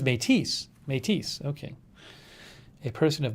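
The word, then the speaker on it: Métis: are in possession of the catholic church metis pronounced or is it metis the metis oh that says matisse matisse okay a person of mixed indigenous and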